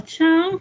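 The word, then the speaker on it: 去: È come se fosse ciu, però la bocca è un po' più chiusa. Ci. Ci. O ci. Ci. È una parola un po' difficile. Ci.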